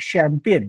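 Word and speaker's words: champagne: म्हणजे लिहिताना चंपागणी लिहायचं आणि बोलताना चॅम्पियन बोलायचं बरं त्याच पद्धतीने जर मी लेफ्टनंट हे स्पेलिंग लिहायला लावलं मुलांना तर त्यांनी अशा प्रकारचे प्रयोग केले बरं का.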